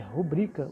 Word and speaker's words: rubrica: como não tem, se tivesse acento, seria rúbrica, né? Como não tem acento, então nós temos que falar, nós temos que entender que essa palavra é uma paroxítona, não uma proparoxítona. É rubrica o jeito certo de falar.